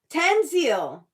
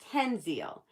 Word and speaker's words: Tenzil: think um because um I said your name wrong Tanzil then why is the account holder Tanzil but it's Tenzil but if it's Tenzil